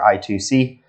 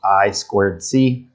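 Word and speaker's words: I²C: i squared c or i2c uh which stands for inner integrated circuit bus i also sometimes called i i c but notice this is usually pronounced i squared c or i 2 c and then spi the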